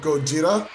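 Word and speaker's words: ゴジラ: Of course, Tao, as many of us know, goes by the moniker of Gojira, which is uh the Japanese pronunciation of Godzilla.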